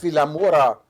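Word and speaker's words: Vilamoura: La Mora for how do you say that Villa Morris yeah we didn't I got I got here the ring ha with in ha ha yes Villa Mora x3b to Joe's 16th in Oro Seventeen's max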